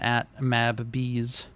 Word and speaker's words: MabBees: But yes, that's Tomodachi 8-in-1 by @Illumines and @MabBees. I have to pronounce that second one that way because it's two B's next to each other, and I don't want